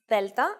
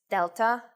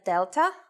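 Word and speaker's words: δέλτα: It is very easy to forget the way they are pronounced in Greek and go for their English versions, delta and gamma. Please don't forget that in Greek, the sounds are much softer.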